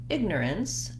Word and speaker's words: ignorance: go to the word ignorance it changes because we actually have first syllable stress and then the next two syllables are short and unstressed and so even though